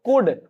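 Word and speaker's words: could: कुड में ठीक है कुड ना पढ़ते उसको कुड एल साइलेंट कर देते हैं कुड में रहता है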